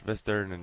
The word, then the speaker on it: Vesterinen: Are those game helmet Edward Vesterinen? Is that how we say it? Is that am I saying the last name right? Yes, you're saying it right. Edward Okay. Vesterinen, yeah.